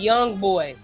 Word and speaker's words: Jung: Carter and Josh MLB Jung have been outstanding as well. MLB Young Boy. It's not pronounced Young. It's Young Boy. Oh, I'm sorry, Young Boy. Excuse me. The J is The J is silent.